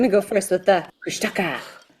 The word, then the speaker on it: Kushtaka: Kushaka, which it's spelled K U S H T A K A, but you pronounce it Kush Daka.